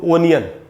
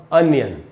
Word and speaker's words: onion: Generally हम लोग पढ़ते हैं इसको ओनियन, लेकिन दोस्तों यहाँ ओ से ओ नहीं होगा, ये होगा अ। अब ओ से अ भी बनता है, तो यहाँ उच्चारण होगा अनियन। अनियन का मतलब है प्याज। इसको ओनियन नहीं बोलना है, अनियन।